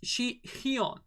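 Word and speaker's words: Sihyeon: that far away actually it's shi heon so it's basically very similar to xi'on from um from dreamcatcher but due to the edition of the age we don't call it young but hyun so she here all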